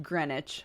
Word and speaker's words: Greenwich: we can start off with a big bang pronounced Greenwich of course it is it's like Flitwick is